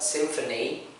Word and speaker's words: symphony: So if you pay attention, the word symphony, there is like a P and H, right? P and H, symphony. So if you find the word, an English word with P and H, we pronounce it as F. So the sound turns F, yeah?